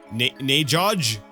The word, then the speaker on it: Nagog: Could be quite dangerous if you pronounced Nagog with the hard G, as laymen are apt. Oh. Wait. Nagog? What's Najoj?